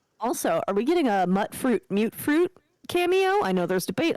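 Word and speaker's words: Mutfruit: Your team mute fruit, right? It's gonna be mute fruit. Yeah. I'm team mutt fruit. That's how they say it in the games. They say mute fruit.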